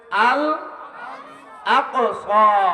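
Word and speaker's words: الأقصى: আরে বড় কাব উচ্চারণ করেন, আল আকসা।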